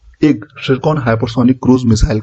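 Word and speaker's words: Tsirkon: है ठीक है दोस्तों इसका सरकन इसे कहा जाता है टी यहां पे साइलेंट होता है तो सरकन इसका नाम है ठीक है व्हिच ऑफ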